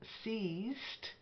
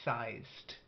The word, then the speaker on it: seized: solist and accustomed then seized not like sized and you get two